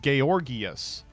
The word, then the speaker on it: Georgius: George is actually Prussian/Austrian. It's pronounced Georgius.